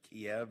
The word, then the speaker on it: Kiev: comes from kiev they they use the russian pronunciation there kiev in the ukraine and we